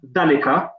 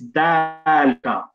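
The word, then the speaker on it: ذلك: The reason why they've done that is because sometimes the alif will be pronounced but not written, and this is one of those cases. You can see the alif is not actually written, however it's pronounced, and because it's pronounced, that's why they just put that line in there to help you out. So it's not dalika, it's dalika, as if there was an alif.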